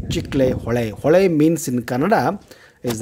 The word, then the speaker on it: Chiklihole: this chiclet dam and many people pronounce very badly chick-lay-hole it is not a chickley hole but it is a chick-lay hawaii hawaii means in kannada